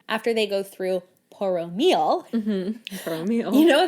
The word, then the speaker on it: Poromiel: Poromiel. You know, like I now in my notes type things out. MEAL. Oh, I wrote PO-RO-MEE-EL. I'm like phonetically spelling it for myself.